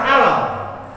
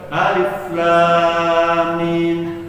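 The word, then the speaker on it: الم: enggak ngaji di sini, enggak bisa baca alif lam itu Bapak akan baca alam. Iya. Benar enggak? Kan alif lam mim. A tu Bapak kan baca alam alamat karena enggak ngaji. Tapi kalau ngaji ilmu tajwid nunuk dibaca alif lam mim.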